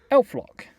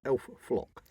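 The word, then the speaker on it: elflock: Elf-lock. Is it elf-lock or elf-flock? Elf-lock. With an L.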